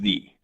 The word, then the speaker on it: the: all right the word the word duh if placed it in front of a worker that is a vowel started with a vowel it is pronounced thee so since Ohio is